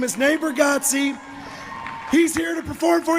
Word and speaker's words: Bargatze: Natebargatze.